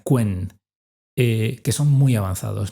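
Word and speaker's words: Qwen: que se llama en en inglés se pronuncia quen, eh, que son muy avanzados, ¿no?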